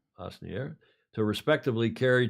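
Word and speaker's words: Asnières: The trunks will be made bespoke at the historical LV Atelier in, how do you pronounce that, Julia? Asnier. Asnier, to respectively carry 2 trophies, the old mug,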